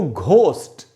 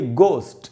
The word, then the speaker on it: ghost: चाहिए वो होना चाहिए गोस्ट, क्योंकि GH से घ इंग्लिश में तो है ही नहीं, घ का साउंड ही नहीं है, तो ये होना चाहिए गोस्ट।